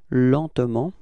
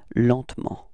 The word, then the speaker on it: lentement: And so the result we got is lentement, repeat, lentement, okay? And then, well, usually in France we don't really pronounce this E between T and M, so we get this pronunciation lentement, repeat, lentement, okay?